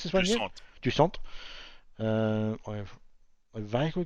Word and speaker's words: Jusant: Is this Jusant? Have we decided how we pronounce this one yet? Jusant.